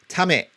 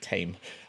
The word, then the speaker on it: tame: it in english um it's pronounced tamit not tame uh okay you don't want